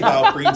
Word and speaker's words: BioPerine: They do refer to it as BioPerine. It is, okay. Yes. And I say BioPerine, so you know what?